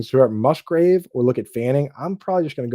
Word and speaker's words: Fannin: Start Musgrave or look at Fanning. I'm probably just going to go with Harold Fanning. Mhm. Harold Fannin. I don't know why you've tricked Mm. me into saying his name wrong.